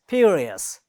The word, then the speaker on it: furious: So it has 3 syllables, and the first one is stressed.